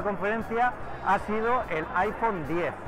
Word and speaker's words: iPhone X: La gran estrella de la conferencia ha sido el iPhone 10. Pronunciado 10, tenemos la duda de si va a ser iPhone 10 o iPhone X, pero parece que es iPhone 10.